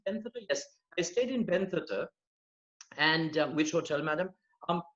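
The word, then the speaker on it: Bentota: Is that how you pronounce it? Benthota? Yes, I stayed in Benthota.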